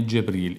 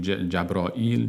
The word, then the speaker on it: جبرئیل: همین معنی هستن و در خود تلفظ کلمه جبرئیل اینجا جبرئیل آمده جبرئیل و جبرئیل جبرئیل جبرئیل همه این تلافظها درست است یعنی همه این‌ها درست حالا چه بگوییم جبرئیل چه بگوییم جبرائیل چه بگوییم جبرئیل جبرئیل